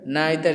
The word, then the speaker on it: neither: तो यहाँ पे जो वर्ड इस्तेमाल हुआ ईच, आइदर या ईदर, नाइदर या नीदर, ये सारे क्या हैं? डिस्ट्रीब्यूटिव प्रोनाउंस हैं।